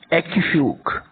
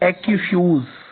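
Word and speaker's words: aquifuge: Transmit water is called एक्यूफ्यूग। एक्यूफ्यूज, ठीक है। जो सही प्रोनाउंसिएशन है वो है एक्यूफ्यूज।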